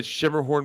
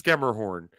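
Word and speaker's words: Schermerhorn: different ways yeah I I always say Shimmer horn because I don't know exactly you're right it's scammerhorn thank you it's hoit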